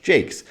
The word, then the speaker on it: Jacques: Some historians think that the sensors may have objected to the way that Shakespeare named the character Jacques, which could have been pronounced Jake, which was a synonym for the potty.